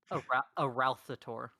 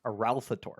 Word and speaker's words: Arauthator: pronounce the dragon's name it's like a ralph the tour a ralph tour okay greetings eralthetour we